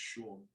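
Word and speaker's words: Saun: can't pronounce his surname, Sean spelled S-A-U-N, but it's pronounced Sean.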